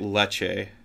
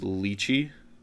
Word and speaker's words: lychee: it's pronounced like uh i'm gonna butcher it because i'm gonna say it leche but i believe it's pronounced lychee um it is a